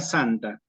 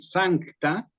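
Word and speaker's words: sancta: c con la t muchas veces la gente dice o se escucha Santa sí sin la c la palabra latina tiene una c en el medio Entonces si podemos hacer el esfuerzo de decir zanka que se escuche la c es mejor es más puro sí zacta daytrix lo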